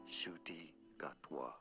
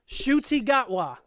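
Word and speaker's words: Ncuti Gatwa: How to pronounce okay. All right, so let's see what YouTube has to say. A Rwandan actor, Shuti Gatwa. Shuti Gatwa. Shuti Gatwa is the new Doctor Who, y'all.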